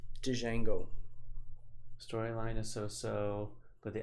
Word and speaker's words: Django: Ooh, The D is silent. See? Jindango. I like Thor. Got it. Thanks, Elizabeth. All right. I mean, Django.